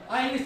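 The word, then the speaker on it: Isles: आइलिश है, ISLS, यानी island, British आइलिश को कहते हैं, एस साइलेंट है।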